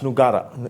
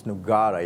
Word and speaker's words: Nugara: do I say his surname is it Nogueira or Nogueira it's nugara it's negara yeah you can choose it doesn't really matter